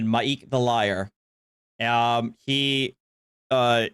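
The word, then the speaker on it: M'aiq: fans um yes it's basically uh the the pronunciation is maek oops there maik I said maik the liar um he uh is an NPC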